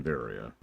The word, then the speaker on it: Varia: have high jump in varia the variant variant and yes I know it should probably be pronounced barrier and I don't care